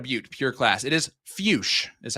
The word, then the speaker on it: Fuchs: It is fuch is how you pronounce that. Troy. So, I do want to say for a little extra context here on given predictions early on, uh, Zach Fus, last time we saw him was also in